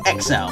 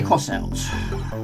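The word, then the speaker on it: X-Out: to say it, but for years I was saying it wrong. But yeah, I was always saying XL, but now I'm trying my best to try and say cross out.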